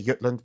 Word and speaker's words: Jutland: they were coming from which is the Yutland Peninsula Jutland some pronounce or Yulan in Danish I say Yutland because that's what it should be called but um the Yutland